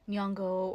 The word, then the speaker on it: Nyong'o: By going on and on about how they can't pronounce Nyong'o or Nyongo, which by the way, um either of those two pronunciations are totally fine.